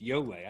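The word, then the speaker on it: Ioele: Yole. I don't know. Well, Yole, I had to hear the audible version of it because I had no idea on reading it how to pronounce it.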